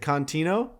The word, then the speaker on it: Contino: Is it Contino?